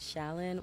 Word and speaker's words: Challxn: You can find me at Challan. Well, technically, so you don't say my name, Challxn, but that's how you find it.